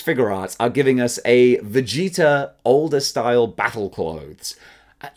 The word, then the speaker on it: Vegeta: are giving us a Vegeta older style battle clothes at least I know it's pronounced Vegeta and not vetta like I originally called him forget forget about it